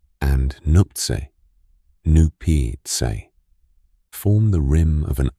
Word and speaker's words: Nuptse: 2 other very high mountains, Lhotse, Loatse, and Nuptse, Nupitse, form the rim of an upper basin called